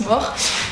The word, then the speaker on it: mors: Bon, déjà, c'est un mort, oui, un S à la fin, mais ça se prononce mort.